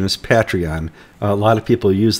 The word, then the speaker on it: Patreon: American audience patreon patreon it's like a patriot patreon something's like it's a